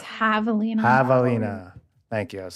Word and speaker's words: javelina: It's javelina.